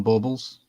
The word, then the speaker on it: bauble: we don't call them ornaments we call them baubles bubbles bubble spell it b-a-u-b-l-e bauble okay all right they're not